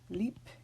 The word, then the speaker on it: Liebchen: So we are going to actually pronounce these B's like they are final in the word. Lieblich and Liebchen.